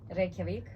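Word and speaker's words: Reykjavík: And How do you pronounce that, the capital? Reykjavik. Because I was trying to, Reykjavik. Hey, actually, that was pretty good.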